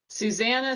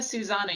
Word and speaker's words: Susannah: you so much and susannah susana you have to tell me how to pronounce your name because i keep mispronouncing it susanna is great although either is fine um i will try